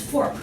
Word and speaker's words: Forcht: But you don't pronounce the CHT, it's fork, like a knife and fork.